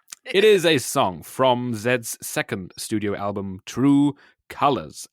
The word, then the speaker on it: Zedd: It's a song by a German DJ called Zedd, and that is the name chosen because it is how the way that English people pronounce the last letter in the alphabet.